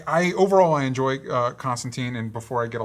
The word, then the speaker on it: Constantine: frustr There's I I overall I enjoy uh Constantine. And before I get a lot of crap for it in the comments, I've decided that this version of the character is Constantine.